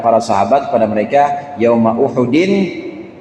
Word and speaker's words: Uhud: sahabat, kepada mereka, yauma Uhudin. Ini Uhud bacanya Ustaz ya, jangan yauma Ahadin. Yauma Ahadin mah malam Senin sekarang nih. Yauma Ahadin hari Minggu.